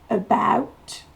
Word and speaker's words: about: About. Le A va se prononcer E. Et la syllabe accentuée, c'est ow. About.